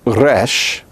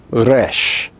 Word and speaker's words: resh: Now the letter resh is pronounced like the TT of butter. You don't say butter. Nobody says butter. You say butter.